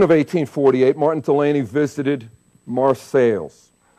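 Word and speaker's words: Marseilles: 1848 Martin Delany visited Mar sales not Francis Port City but its namesake a village in the cornfields of Northwest Ohio then as now local people pronounced it marceles drinking my water I'm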